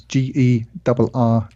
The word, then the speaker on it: Gerrans: Was I saying your name wrong the whole time? Yeah, it's a hard G. I have a hard G, man.